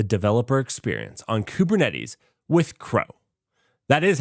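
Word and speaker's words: kro: to simplify the developer experience on kubernetes with crow that is how it's pronounced because unlike most projects this actually gives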